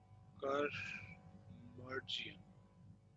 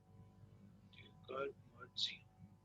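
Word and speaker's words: curmudgeon: next क्या है, next है, ये देखो एक वर्ड आपको दिखेगा, इसके प्रोनाउंसिएशन कैसे करना है, देख लो, कर मर्जियन, कर मर्जियन, अब ये है क्या, है ना, a bad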